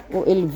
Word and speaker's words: OLW: OLV ang tawag nila. Kasi 'yung pag-pronounce nila ng W ay V as in victory.